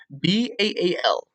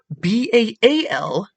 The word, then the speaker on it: Baal: People will say it like ale with a B. That's not how you pronounce it. If you properly pronounce it with phonetics, the A carries a ah or aw sound. So all, just like how you